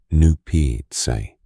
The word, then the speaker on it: Nuptse: 2 other very high mountains, Lhotse, Loatse, and Nuptse, Nupitse, form the rim of an upper basin called